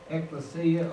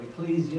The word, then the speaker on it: ekklesia: The church comes from a Greek word, ekklesia or ecclesia, you can pronounce it either way, which means called out ones.